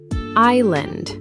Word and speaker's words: island: The S is silent, pronounced island.